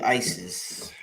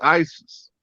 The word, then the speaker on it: Iesous: In the Greek pronunciation, the capital I automatically silences the E, goes hard on the S, silences the O, go hard on the US. It's ISIS. One language back.